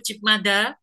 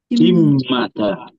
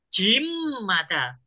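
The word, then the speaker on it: 집마다: Oke, Mas Hasan benar nggak bacanya itu Cipmada? Salah. Bacanya apa, Mas? Cipmada. Cipmada. Cimada. Oke, cari soyo. Cimada. B ketemu M, bacanya kan M ya. Cimada. Oke, bukan Cipmada, tapi Cimada.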